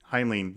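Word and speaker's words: Heinlein: h h hin i somebody told us how to say it and I can't remember now I think it's hinen yeah but Stranger in a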